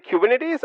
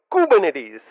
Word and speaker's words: Kubernetes: interesting fact is the fact that kubernetes is pronounced Ed as kubernetes kubernetes kubernetes say that a few times practice this a number of times the next time you see a friend of yours saying kubernetes or something like that say nope you should